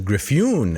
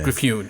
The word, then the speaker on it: Griffioen: It's got an interesting spelling, but we are supposed to pronounce the last name as Griffioen. Griffioen. With an accent on the yoon, because, quote, Dutch is a strange vowel-y language.